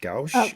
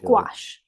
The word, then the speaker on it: gouache: all your main material you use is it pronounced Gauss gouache yeah it's it's like a watercolor um but